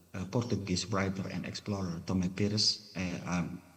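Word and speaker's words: Tomé Pires: Uh interestingly uh the the uh Portuguese rider and explorer Tommy Pis I'm say it's correct pronouncing Tom Perez in Suma Oriental mentioned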